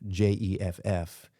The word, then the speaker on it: Geoff: Jeff, just by itself, Jeff, is like already 2 squared. Yeah. And it sounds soft too. It does. Yeah, exactly. The G, even though it's pronounced like indistinguishably, there's something about it